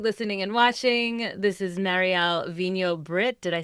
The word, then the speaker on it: Marielle Vigneau-Britt: So for those of you listening and watching, this is Marielle Vigneau-Britt.